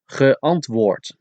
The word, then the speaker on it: geantwoord: Antwoorden, geantwoord, with a D at the end, but you pronounce it as a T.